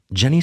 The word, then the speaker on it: Jenny: Jenny's dad insisted on calling Jenny Jenny with a short I sound. He said, if you remove the N from Jennifer, you don't get Jenny, you get Jenny, like the sound of the letter I in the word nitpick, Jennifer.